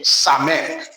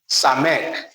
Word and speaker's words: Samek: Just as we pronounce the first letter in the name, Samek. Samek.